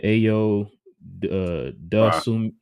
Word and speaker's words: Ayo Dosunmu: And then of course Chicago, if you take out Lonzo, they had how you pronounce the dude name? Ayo Dosunmu.